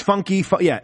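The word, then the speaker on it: Funke: But the main character, Bobby Funk, everyone pronounces his surname wrong. Yeah, it's funky. Everyone, it's the running thing.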